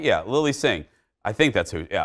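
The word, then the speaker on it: Lilly Singh: Is I'm pronouncing that right? Yeah, Lily Singh.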